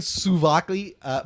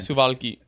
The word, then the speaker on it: souvlaki: The chicken souvlaki. Said it wrong again. Suvalki.